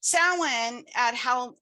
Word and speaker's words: Samhain: It's Samhain.